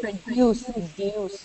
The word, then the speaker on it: produce: Produce, okay? In produce, the stress is on the first part of the word. Produce, okay?